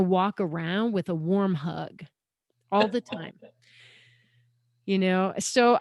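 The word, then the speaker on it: hygge: spelled h-y-g-g-e you've probably seen it before it's pronounced huga and it's it's kind of their word for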